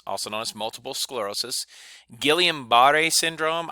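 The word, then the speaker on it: Guillain-Barré: sclerosis guillain-barre a syndrome I've heard people pronounce that a thousand times in a thousand different ways Gillian ba de so I'm gonna call it a Gillian but a syndrome but if your teacher pronounces it differently that's okay Parkinson's and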